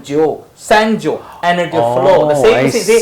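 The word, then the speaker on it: 九: We pronounce it Jiu. Chinese pronunciation.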